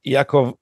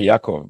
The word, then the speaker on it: Yaakov: Wilner, because we write his name Jacob, so I get hung up on that to say Yaakov because that's how he pronounces it, because that's the Hebrew pronunciation.